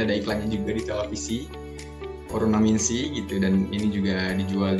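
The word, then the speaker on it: オロナミンC: Dan next, ini ada, ini dibacanya ini Oronaminsi ya, ini udah sering juga kita lihat ya, mungkin ada iklannya juga di televisi, Oronaminsi gitu, dan ini juga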